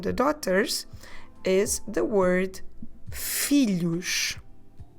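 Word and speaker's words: filhos: daughters is the word felouch fee luche on this one we have that sound we get with the LH together so felouch we spell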